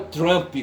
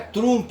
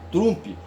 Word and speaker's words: Trump: então eu penso que o nome dele não é o trump como o pessoal fala aí sabe dentro aí da da pronúncia angl saxã entendeu trump entendeu É trump mesmo sabe u bem aberto trump certo e fiquei sabendo